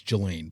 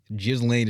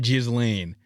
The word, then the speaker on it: Ghislaine: It's Ghislaine, please. Ghislaine is. That's how you say her name. It's not Ghislaine.